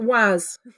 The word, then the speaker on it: WAAS: Is that just WAAS? Is that how you pronounce that? We call it WAAS.